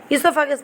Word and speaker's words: esophagus: furgus see this here this o is silent you know need to pronounce this o you have to read iso esophagus means that is food